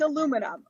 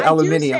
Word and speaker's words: aluminum: Oh, aluminium, or is it aluminum? Or how do you say that in a weird way? It's aluminum. Okay, so you still say that. Yeah. Okay, you don't say aluminium. I do say one weird